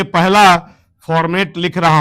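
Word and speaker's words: formate: Are silent है बेटा, इसलिए हमेशा फॉर्मेट बोलने का, मिथाइल फॉर्मेट।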